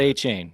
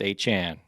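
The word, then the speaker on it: Achane: about uh Devon a it's pronounced a Chan I keep hearing that now it's he's he corrected the media this week he's like it's not a chain it's a Chan like all right okay now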